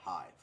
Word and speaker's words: hive: this last word here we have the word hive ah where where where where the E does not make a sound because the E's function